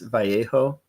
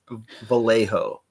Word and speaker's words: Vallejo: You would think that they would properly pronounce VJo, but we only do the the ho correctly. It's Vallejo.